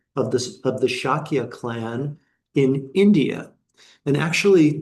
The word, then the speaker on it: Shakya: his father was kind of the the ruler of of the clan, the Sakya clan or Shakyia clan depending on how one pronounces it of the of the Shakya clan in India.